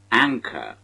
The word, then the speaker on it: anchor: This word has the primary stress on the first syllable, as anchor.